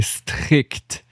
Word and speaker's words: strict: Okay, strict. Like fun hi-hat sound at the end.